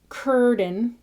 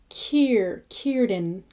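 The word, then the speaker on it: Círdan: You want that ear sound rather than er. So there's no fur. It's not curden. It's Kierden.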